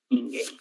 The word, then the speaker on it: ninguém: Ninguém. Muito bem. Termina em EM. Se termina em EM, é um exemplo de palavra oxítona que recebe acento gráfico.